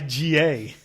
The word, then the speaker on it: Sega: We used to say Sega. Sega. Like Sayga.